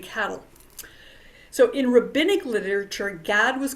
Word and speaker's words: Gad: with the tribe of GAD sometimes people in Hebrew it would be pronounced God but since that sounds so much like God we're going to go